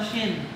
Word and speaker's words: shin: Ang pagbigkas nito, shin. SH. Shin. Nung nag-reply naman ang Ephraimite,